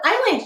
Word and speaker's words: island: of the syllable and here we have that silent s again so island used to be spelled without an s and then someone noticed that the french word isle was part of english and they added the s to island to make